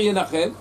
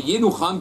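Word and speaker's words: ינחם: Amar Rab Nachman, Bar Yitzhak, il a dit Rabbi Nachman, Ben Yitzhak, il ne faut pas dire Yenachem, mais Yenucham, qui s'écrit de la même manière, Ktiv, oui, et ça parle cette fois-ci dans l'endeuillé.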